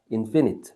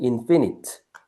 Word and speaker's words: infinite: 발음 알겠나? infinite. 자 이렇게 적어 보세요. 위에 반대말. 역시 접도인을 빼면 돼요. 그럼 유한안인데 발음이 요거는 제한 해 봐. 파이나이트. 어, 그렇게 돼요. 파이나이트. 요거는 인피니트. 발음 주의하시고.